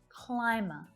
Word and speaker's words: climber: Climber.